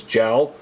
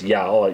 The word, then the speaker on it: Jal: He captures the queen and her son, Prince Jal or Prince Jal, J A J A L, I'm assuming again Scandinavian pronunciation based on where it was located.